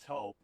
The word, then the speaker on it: Toop: No, I'm pretty sure it's Toop Insurance. Maybe Toupee. Could be Toupee. Yeah, I don't know. Or Taupe Insurance, maybe? I don't think so. Say it right. That's T-O-O-P. That's Taupe. Oh, it's Taupe.